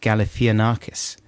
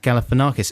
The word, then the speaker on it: Galifianakis: and i extremely confidently said no no it's pronounced galifianakis and there was a few messages from people saying saying that you were rongo snodgrass lloyd it's pronounced zach galifianakis and i found a guy on youtube who